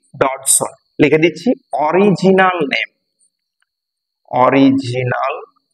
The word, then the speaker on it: Dodgson: উচ্চারণটা ভালো করে খেয়াল রাখবে, লুটুইজ, লুটুইজ এখানে ডিটা সাইলেন্ট আর ডডসনের জিটা সাইলেন্ট, জিটা উচ্চারণ করলে কিন্তু ডগসন হয়ে যাবে, তাই ডগসন নয়, উচ্চারণটা ডডসন, DOD থেকে উচ্চারণ হবে, জিটা সাইলেন্ট হয়ে যাবে।